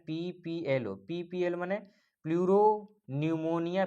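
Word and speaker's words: pneumonia: PPLO माने pleuro निमोनिया P silent कह लेंगे।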